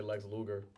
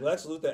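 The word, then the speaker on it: Lex Luthor: strategems you feel me I used to pronounce his name wrong cuz I used to always say Lex Luger cuz the producer I feel like I remember that sh like Lex Luther especially I like especially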